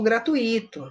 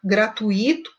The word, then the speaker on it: gratuito: aqui tem um show gratuito não é legal só que olha gratuito está correto gratuito não está correto então você coloca é a sílaba tônica no na sílaba errada deu para entender de